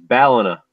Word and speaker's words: Ballina: it's Ballina. Is it really? I'm Yeah. sorry. Yeah. I'm sorry. It's just my accent. Bellina. No, back like 10 years ago, I used to pronounce it the same way, and I remember him correcting me back then. And now I always hear people say the same way, Bellina. I always no, it's Ballina.